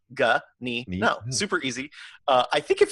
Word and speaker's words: Ganino: is spelled out but last name is G a in I in Oh gah knee no super easy I think